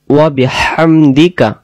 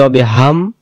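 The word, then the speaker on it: وبحمدك: আমরা পবিত্রতা ঘোষণা করছি ওয়াবিহামদিকা ওয়াবিহামদিকা ওয়াবিহাম এখানে শসু করে গলা থেকে হাম আর যদি আমরা বলি অবিহাম উচ্চারণ হবে না ওয়াবিহামদিকা ওয়াবিহামদিকা ওয়া মানে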